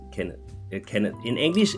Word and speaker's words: Kenneth: in English people say Kenneth but in Danish it's Kenneth Kenneth in English it's Kenneth and in Danish it's Kenneth so the H is silent when you say it in Danish what is